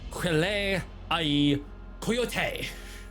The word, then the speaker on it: Wile E. Coyote: To make it more of the pronunciation of this, it's Wile E. Coyote.